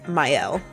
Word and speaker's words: Mielle: my friend finally told me that it's not pronounced that, it's called Mielle.